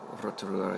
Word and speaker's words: Rotorua: the middle of the north iseland south of Rotorua uh Rotorua or Rotorua as it's correctly pronounced is uh the city in New Zealand